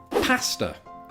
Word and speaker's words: pasta: um, and we're going to see more evidence of it in our next entry, pasta. Pasta. Yeah, so a different treatment there of that of that A sound.